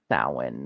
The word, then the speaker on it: Samhain: even know it's pronounced Samhain. Yeah, So, I mean, not the only two, but very small minority. yeah. There's not a lot of people do. And that's, I think isn't that the Gaelic pronunciation?